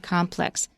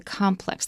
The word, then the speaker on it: complex: our complex next month pay attention to the word complex it's also stressed on both syllables but when we use it as a noun and when it means including a whole bunch of different buildings or structures then we put this dress on the first syllable the complex this is our complex an apartment complex yeah so it's an